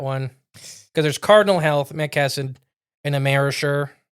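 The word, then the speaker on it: McKesson: Uh, but Matt Kassen is how you say that one because there's Cardinal Health, Met Cassid, and Ammerisher.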